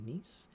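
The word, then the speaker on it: gneiss: a mosaic of various i think it's pronounced nice g-n-e-i-s-s and granites over time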